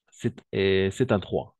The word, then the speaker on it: cet endroit: En effet, c'est cet endroit masculin singulier, allemand qui commence par une voyelle ou un H muet, donc avec un seul T. Cet endroit. Cet endroit, en effet. Très bien, on va faire la liaison exacte.